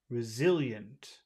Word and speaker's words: resilient: in that word resilient where is the the syllable with all the power resilient zil zil resilient zil resilient resilient I think we just say Z okay uh and how